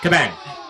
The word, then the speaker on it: Cabang: friend of the Pod kabang is that how you pronounced your last name yeah yeah kabang kabang I love that it's anoma